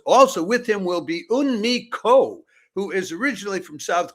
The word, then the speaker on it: Eunmo Ko: Is it Eunmi Ko? Is that the right way to pronounce it, just to be sure?